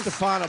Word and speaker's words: DeStefano: DeStefano, but how do you say your last name? DeStefano, that's fine.